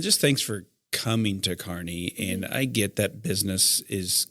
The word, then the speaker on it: Kearney: And I'm glad you know how to pronounce Kearney. We have had some people from outside the community call it Kearney. Yeah. And I'm like, no, it's Kearney.